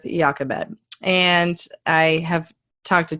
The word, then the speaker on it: Jochebed: Now, I will be honest, there are like three different ways you can pronounce her name, Jochebed, Jochebed, but I think we're going to go with Jochebed.